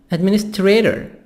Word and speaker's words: administrator: Administrator. Administrator. Administrator. T soft D here. Between A and O. Between two vowels.